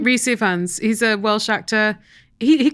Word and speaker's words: Rhys Ifans: Rhys Ifans, he's a Welsh actor.